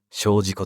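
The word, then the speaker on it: 精進湖: 隣の湖、精進の湖と書いて小路湖と読ませるに至って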